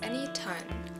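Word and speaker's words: Enitan: Pronounced as Anytone, the word means someone with a story.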